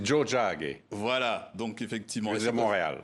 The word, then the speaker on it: Tiohtià:ke: Michel Jean oui bonjour On dit Joe Jack voilà donc effectivement c'est Montréal voilà c'est la traduction de Montréal donc vous dites comment on dit Joe Jack voilà il y a